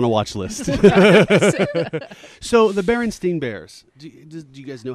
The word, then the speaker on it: Berenstain: It's never been E-I-N. Really? It's Berenstain, A-I-N.